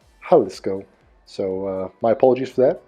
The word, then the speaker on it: Jalisco: They say I'm pronouncing it Jalisco when it should be pronounced Jalisco.